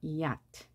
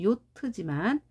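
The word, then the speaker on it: yacht: j를 품고 있다고 했습니다 이얏트 자 합하면 야트가 되겠죠 우리말은 요트지만 영어 발음은이 아트입니다 이음절처럼 보이죠 동의어라고 하는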